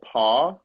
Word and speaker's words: Pauw: this it's like a cardigan, and it's by this brand called Paw. It's a Dutch brand. It's from based in Amsterdam. It's spelled Okay.